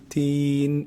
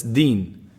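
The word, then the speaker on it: دين: me dee dee the many people they turn it to be teen and that's a big mistake because in the meaning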